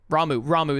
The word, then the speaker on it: Ramuh: Ramuh is how they say it.